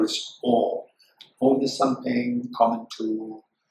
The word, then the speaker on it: Om: Ma, it should become it should not become Om. But it's Om. And for example, okay, the CUP, how to pronounce it?